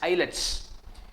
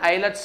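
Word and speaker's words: islets: eyelets of Langer hands eyelets the S is silent here so you call it as an eyelets of Langer hand which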